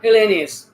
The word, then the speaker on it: Helenius: So thank you, Helenius.